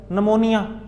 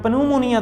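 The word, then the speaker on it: pneumonia: नमोनिया वो पी से start होता है, लेकिन हम पन्यूमोनिया तो नहीं पढ़ते, पी साइलेंट कर देते हैं ऐसी, क्योंकि वो इंग्लिश स्टाइल है।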